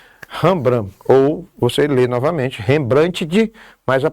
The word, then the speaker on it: Rembrandt: Ou você lê novamente, Rembrandt, mas a pronúncia é Rembrandt.